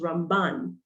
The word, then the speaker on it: Ramban: hebrews is pronounced as ramban um with a nun at the end instead of rambam uh